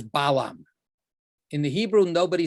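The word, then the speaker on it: בלעם: not that similar it's in hebrew it's bill um so it's it's like b i l a m bill um in and ba al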